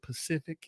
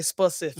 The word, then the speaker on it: Pacific: how you say it Pacific Standard time oh yeah it's they say specific speciic spefic standard all the illiterate people say specific y'all chime on in